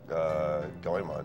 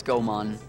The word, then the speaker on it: Goemon: I know it's Goemon, but I say Goemon. It's Goemon. Like Pokemon? It's the first time I've heard it, so that's how I always pronounce No, there's no accent on the E.